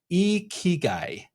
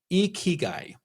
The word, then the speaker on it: ikigai: The Japanese word is spelled Ikigai, and the pronunciation is Ikigai. Ikigai.